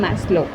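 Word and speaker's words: Maslow: Karl Rogers and Abraham मैस्लो। यहाँ पर मैस्लो में थोड़ी दिक्कत हो सकती है, तो मैस MAS लो LOW, सिंपल है ना।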